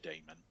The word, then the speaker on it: daemon: Normally in the middle of the word, like medieval, this gets an E, demon, but often to differentiate it, it's pronounced daemon, more like aesthetics.